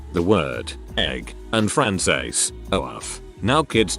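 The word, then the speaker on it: œuf: The word egg, and Français, oaf. Now kids, to say it properly, try punching yourself in the stomach.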